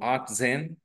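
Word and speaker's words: achtzehn: बोलते आ और 10 को बोलते जन सो आ जन ऐसे कहते दोस्तों 18 को 18 को कहते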